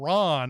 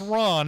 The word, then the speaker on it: Ran: It is spelled Ran, but I believe it's pronounced Ron.